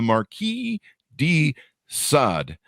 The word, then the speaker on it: Marquis de Sade: February 21st 2023 uh the curse of the Marquee D sod uh I believe I have that pronounced correctly a note yeah there you go